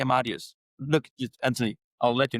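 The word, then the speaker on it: Amadeus: But they do also hold some legacy licenses in um the uh Amadius Basin and MacArthur Basin. Uh I hope I'm pronouncing Amadius right. Probably would say Australian says but they say Amadius.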